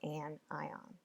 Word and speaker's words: anion: make an ionic compound the words look like a shin in iníon but you pronounce them cation and an eye on so how do you